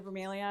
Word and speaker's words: bromeliad: I know some people call them bromeliads, but it's bromeliad. At least that's how we pronounced it when I was a florist.